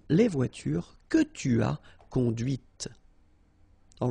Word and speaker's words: conduite: Okay, so here you can listen to this t, t, okay, conduite.